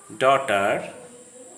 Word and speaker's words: daughter: The GH sound is silent after a vowel sound in a word, as in the following words: night, wait, daughter, thought.